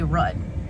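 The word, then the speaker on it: route: Obviously I say boot, but think about the words cough and dough. These things are spelled the same way, but you say them totally differently. It just makes sense for me to say rut.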